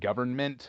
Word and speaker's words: government: I asked you if the word government, are you supposed to pronounce the end? Because I like to say government. I think you're supposed to.